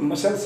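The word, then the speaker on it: muscle: हैं कि बॉडी बिल्कुल मसल्स पूर्ण है, मसल्स निकली हुई हैं। तो मसल, सी का उच्चारण आप देख रहे हैं क स च जो भी आ रहा नहीं है, तो सिर्फ मसल।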